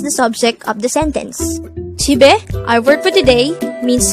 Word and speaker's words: 집에: The word JIB-E could be divided into two syllables, JIB-E. JIB is formed from the combination of the sounds of chiyut, e, and biyup. And e is just the sound of e itself with a placeholder e at the first position of the syllable.